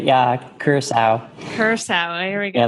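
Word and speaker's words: Curaçao: I know that some people say Curacao or Curacao. How would you pronounce that? That's right. Yeah, Curacao.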